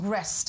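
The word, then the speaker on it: Greste: Canadian-Egyptian Mohammed Fahmy, Australian Peter how do I pronounce it? Grest, exactly.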